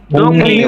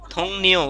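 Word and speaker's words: 동료: উচ্চারণ কি হবে? দং, দংনিও। এ থংনিও দংনিও, দংনিও। সহকর্মী, সহকর্মী। দংনিও। এ থংনিও উচ্চারণ হবে থংনিও।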